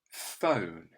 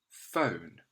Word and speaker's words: phone: word phone phone and you can hear that sound at the beginning is not being made with an f it's being made with a p h so look out for this p h digraph it makes the f sound why don't you have